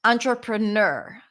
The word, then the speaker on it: entrepreneur: easiest one to pronounce the primary stresses at the end remember that entrepreneur because when you have